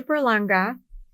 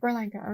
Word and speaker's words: Berlanga: And again, everyone watching, listening, Berlanga. Did I pronounce that correctly? Yeah, perfect. Berlanga, okay.